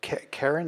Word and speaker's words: Keren: So he starts with Bach, and then he goes into a contemporary composer named Karen.